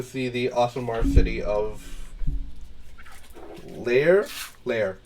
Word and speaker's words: Laer: the Asamar city of Lair. Yes, Lair. So that's spelled Laer, by the way.